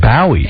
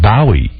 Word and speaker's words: Bowie: He goes, David Bowie is the proper pronunciation. In London, that's what they say, Bowie. And I go, dude, you're working in America. I don't know one person that says Bowie.